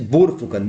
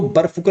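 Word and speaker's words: बोरफुकन: एक प्रश्न है लचित बोर फुकन देखिए लिखने को तो बर फुकन लिखते हैं लेकिन उच्चारण जो है इसका बोर फुकन के रूप में किया जा किया जाएगा ये आप ध्यान रखे रगा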